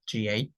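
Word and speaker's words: ガ: So if you look at the ga here, GA, without the dots, this character should be pronounced ka, K-A, ka. But if it has the dots, it should be pronounced with a G sound, ga, because the K sound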